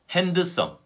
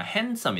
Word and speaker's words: handsome: 틀리게 한번 읽어 드리겠습니다 알몬드 할 프 샌드위치 핸드 성 톨 크 자의 5개의 단어들입니다 이 단어들 제가